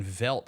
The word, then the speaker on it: veldt: word veldt making its way onto today's show. Isn't that how you say it? That is correct.